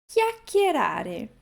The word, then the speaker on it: chiacchierare: Então, para recordar, CHI em italiano nós pronunciamos chi. Chiacchierare.